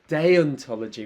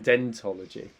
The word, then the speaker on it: deontology: yeah yeah yeah yeah deontology rather than dentology deontology and so this is